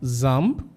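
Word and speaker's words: XAMPP: you can go for Zam know some people go for Jam Jam server so you can call it Jam you can call it Zam anything anyway you can pronounce it so um I actually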